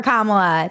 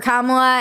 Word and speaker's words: Kamala: her name we did first you say comma like a comma in a sentence then you say la like la la la la la when she